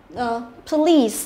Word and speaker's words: police: Nhưng mà nhớ từ này là trọng âm, thứ nhất là trọng âm rơi vào âm tiết thứ hai, và thứ hai nữa là y này là y dài, được chưa? Police, đọc đúng cho nó thì sẽ là police.